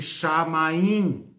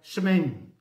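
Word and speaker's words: שמים: Escreve, se é que escreve, né, com os hieróglifos, né, pode ser lido assim aportuguesadamente, chamaim, né, mas provavelmente a pronúncia seria shemen. E termina com esse in no final, né, shemen.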